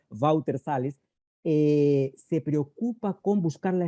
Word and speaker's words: Walter Salles: escoger a los artistas, el director Walter Salles, así se pronuncia en portugués, Walter Salles, se preocupa con buscar la espontaneidad.